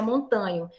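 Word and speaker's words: Montaño: Você vai lembrar que não, porque o endogenismo profissional é montanho, é montano, né? A gente pronuncia montanho.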